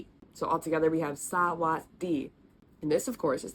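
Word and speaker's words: สวัสดี: In this word, technically that sound kind of gets dropped. I can't explain why, it's just how it is. Our second syllable is technically was.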